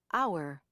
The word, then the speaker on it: hour: There are a few words in American English where the H is not pronounced. Herbs, honor, hour, air, honest, honestly.